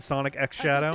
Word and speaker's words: Sonic X Shadow: up next we have Sonic Shadow generations all right so that is the official way to pronounce it Sonic X Shadow definitive greatest hit collection